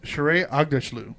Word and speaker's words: Shohreh Aghdashloo: Academy Award nominated actress, I don't know how to say it, Shohreh Aghdashloo? Yeah. No, she's from House of Sound. House of Sound. Shohreh Aghdashloo. Let me see it. Yeah, it's Shohreh Aghdashloo.